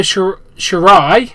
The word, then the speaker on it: Shirai: Io Shirai, I've now learned how to pronounce it.